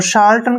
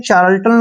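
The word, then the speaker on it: charlatan: पढ़ेंगे इसको शर्टन और शर्टन का जो मींस होता है मीनिंग होता है वह होता है हकीम शर्टन शार्टन मतलब हकीम देखिए बोलने में चार्ल्टन लगता है लेकिन शार्टन होता है शार्टन हकीम जैसे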